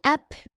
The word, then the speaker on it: app: Ve bu up diye değil app app diye okunur.